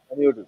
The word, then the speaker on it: Panayotis: But let me first welcome and let me see if I am saying this right, Mr. Panayotis. What? How do you say that? Is that? How do you say Yes, your name? Panayotis. yes, that's correct.